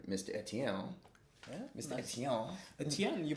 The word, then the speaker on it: Etienne: Etienne. Etienne, you pronounced it really well.